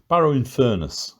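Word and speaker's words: Barrow-in-Furness: furnace or furnace um Barrow in furnace is how it's pronounced locally so um yeah it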